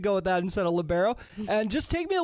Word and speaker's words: libero: a little clarification here is it uh pronounced labero or libero Le Leo what are we talking here labero labero okay I I was in